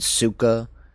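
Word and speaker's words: сука: And yeah, just this, never say soka or soka in, I think, China, because soka is like a curse word, and suka is how you say it in Russian, I believe.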